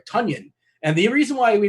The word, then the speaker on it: Tonyan: me get it right tanyan and the reason why we know his name is tanyan because somebody tweeted out uh it rhymes with funyun which by the way